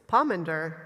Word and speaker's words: pomander: It's pomander. Pomanders.